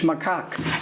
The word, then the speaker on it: macaque: and I had to look up how to pronounce macaque so if you want to use the word it's macaque and there are many kinds including Reese's macaque